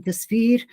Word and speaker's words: Jasveer: about my name being Jasveer. It's a Sikh name. Jas is, I was saying to Mohammed and Yazan, it's pronounced like as in justice, Jas, and the Veer part, the second part, Veer means warrior.